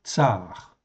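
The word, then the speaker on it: צַר: Donc ici, c'est donc un tsadé, en fait ici, et un resh, en fait ici. Donc ça se prononce tsar, ou un tsadé, vav, resh, en fait ici.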